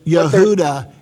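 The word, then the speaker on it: Yehuda: uh they have uh Yuda is also the pronunciation of the name Judah uh so most of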